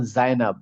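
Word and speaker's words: زينب: জায়নাব আমরা বলি জায়নাব, অ্যারাবিক যেমন জায়নাব, জায়নাব এই যা দিয়ে।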